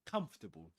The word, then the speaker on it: comfortable: Comfortable. Three syllables. Even wizards, British wizards pronounce it in this way.